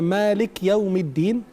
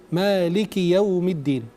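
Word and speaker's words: مالك يوم الدين: Kafnya kasrah, bukan sukun. Kalau dibacanya Malik Yaumiddin, berarti kurang tepat. Dibacanya Maliki Yaumiddin.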